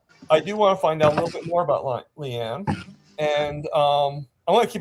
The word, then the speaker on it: Lian: It's Leanne, not Lion.